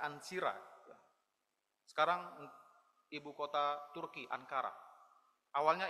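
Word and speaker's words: Ancyra: di sebuah tempat yang bernama bacanya ansira sekarang ibuota Turki neara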